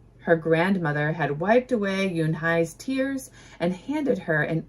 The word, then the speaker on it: Unhei: It's spelled U N H EI. It's pronounced Yunhai.